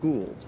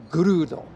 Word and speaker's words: Gould: How do you pronounce Gould. it? Gould. Yeah. Not Gold. Or Gould. Gould. Or as my wife has mispronounced it here for 35 years, Grudo.